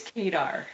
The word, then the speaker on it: Kadar: Is it Kadar or Kadar? It's Kadar. Kadar.